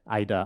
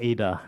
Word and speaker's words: AIDA: and data analytics Talent Ida or Ada depending how you want to pronounce it maybe I'll I'll shoot